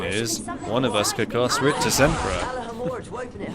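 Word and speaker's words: Rictusempra: what you mean is one of us could Rich Emperor it's Rich's Emperor actually I'll have you know how dare you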